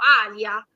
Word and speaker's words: Alia: proprio calco dall'arabo, perché in arabo noi pronunciamo Alia, c'è solamente un piccolo suono con la glottide, glottal stop tipico dell'arabo, ma il toponimo si